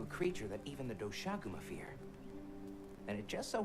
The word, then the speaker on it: Doshaguma: Doshaguma, that's how it's pronounced.